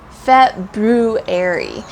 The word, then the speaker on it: February: one is right so the correct one is February fat Brew Airy and so lots of